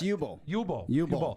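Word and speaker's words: Uwe Boll: I think it's UI B O L L and he it's Yubo.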